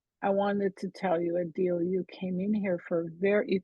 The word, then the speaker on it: Adeel: But you know, Adeel, it's Adeel.